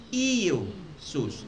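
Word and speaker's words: Ἰησοῦς: Walang ye sa Greek. Walang letter ye sound. Walang ye sound. The closest pronunciation sa Greek ay Iesus. Iesus.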